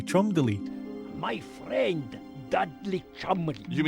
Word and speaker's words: Cholmondeley: Most importantly, Bruno explains that everyone's been saying Cholmondeley's name wrong. It's actually Cholmondeley.